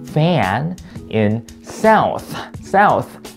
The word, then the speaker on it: South: South. TH 발음이니까 당연히 South. 이거 중요하죠. South 아니고 South.